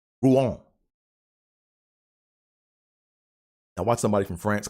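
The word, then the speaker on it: Rouen: to save my life at first I thought it was ruined or Ron or ruin but it's ruin Ruan I watch somebody from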